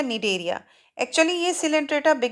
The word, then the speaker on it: Cnidaria: हैं मीडिया आप देखेंगे स्प्रिंग स्टार्ट विद सी लेकिन हम इसको नहीं पड़ती थी साइलेंट है तो यह हो गया नीड एरिया एक्चुअली यह सेंटर में